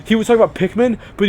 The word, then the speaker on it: Pikmin: And like, he would talk about Pikmin, but he would pronounce it Peekman, and he'd be like, Peekman, and it's like, oh my fucking god, Joseph, I want to punch you in the face.